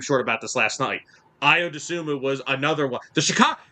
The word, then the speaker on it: Iodumu: I How do you pronounce the last name? Iodum IO Dumu. Dumu.